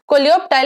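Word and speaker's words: coleoptile: तो इसको प्रोनाउंस सही से करें, काफी बच्चे इसको मिस प्रोनाउंस करते हैं क्योंकि इसकी स्पेलिंग अलग अलग जगह पे अलग अलग दी हुई होती है, बिल्कुल सही बात है, लेकिन हमको बोलना है कोलियोप्टाइल एंड कोलियोराइजा, ठीक है।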